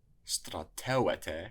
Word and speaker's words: στρατεύετε: Strateuete should have an accent on the antepenult.